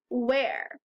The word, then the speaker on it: where: word is where and this whole part is tricky you only hear the and the rest says air it doesn't look like that so you just have